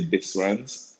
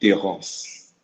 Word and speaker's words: Desrances: They'll say Desrances, but in the French pronunciation, the S is silent. So it would be Desrances.